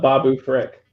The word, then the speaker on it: Babu Frick: and Jim I spelled it completely different but Babu Frick that is correct phonetically spelling out the word Frick I like